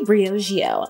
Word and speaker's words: Briogeo: it's so funny i didn't know how to pronounce it at first it says it just sounds so fancy briogeo love that this is their scalp revival charcoal